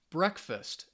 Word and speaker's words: breakfast: Breakfast, excellent. Friday, perfect. Days of the week, Friday, stresses on that first syllable. So most 2-syllable nouns, the stress is on the first syllable.